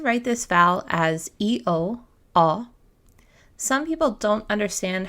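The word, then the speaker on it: ㅓ: This sound can resemble the ending sound in saw or any AW sound. Your mouth will be a little narrower when making this sound. Try it with me. Aw, aw.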